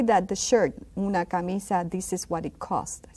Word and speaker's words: camisa: Una camisa. Very good. Fabuloso, mis estudiantes. Muy bien. Una camisa. Camisa. That I is quite long, right?